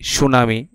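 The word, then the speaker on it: tsunami: একটা বানান আছে কি সুনামি টি দিয়ে শুরু হচ্ছে তো এই যে বানান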